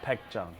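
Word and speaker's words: Baekjeong: Your restaurant here, pronounce the name of for me, right? Baekjong.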